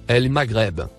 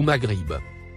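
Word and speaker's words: المغرب: Le mot en surbrillance bleu se prononce El Maghreb, ou Maghrib.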